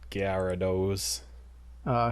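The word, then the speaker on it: ギャラドス: the pokemon yeah guyara gyarados uh his name in japanese is gyaradosu so there is supposed to be a gyarados there when you kind of run it together in english it still sounds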